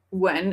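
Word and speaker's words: Nguyen: They wrote uh Guen, but it's pronounced when like how was I supposed to get that?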